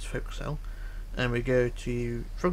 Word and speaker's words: forecastle: Or forecastle, as people like to pronounce it, but it's forecastle.